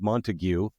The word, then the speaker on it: Montague: It's spelled like Montague, but it's pronounced Montague.